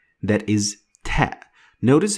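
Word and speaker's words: ت: Ta is compared to T, like the word tea.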